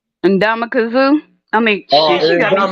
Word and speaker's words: Ndamukong Suh: Ndamukong Suh. I mean, she got me saying it wrong. Ndamukong Suh.